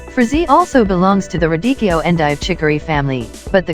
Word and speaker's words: radicchio: Purple-colored radicchio, pronounced radicchio, can taste bitter fresh but sweeter when grilled or roasted.